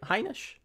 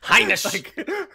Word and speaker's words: Heinisch: I think you always have to like put the emphasis and try to be German when you say. Is that right? Heinisch? Am I saying it right? That's correct. Yeah. Now we were watching. Go ahead. You were saying emphasis. You put emphasis on every single syllable there.